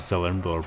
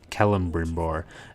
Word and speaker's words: Celebrimbor: There's a few things though that didn't fit in, but with I call them Celebrimbor, but I mean in the game they pronounce it with the hard C, like a Celebrimbor, which is interesting.